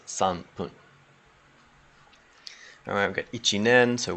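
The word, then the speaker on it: 三分: And the rule basically is, it's even just 3 minutes is sampun, and when you put it together with the 10 for the 13 minutes, ju is kind of the normal pronunciation. But then it still maintains as sanpun.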